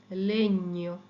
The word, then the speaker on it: legno: যেমন GNO, GNO, GNO, GNA, GN এর সাউন্ডটা হয় ঞ। এটা একটা যেন দন্তন্যটা একেবারে তালুর সাথে লাগিয়ে কিছুক্ষণ তারপর এটা ছাড়তে হবে, নিয়ম। ওকে, নিয়ম, gnocchi, gnocchi, legno, legno, Spagna, lavagna, gnomo, gnocchi, legno, Spagna, lavagna।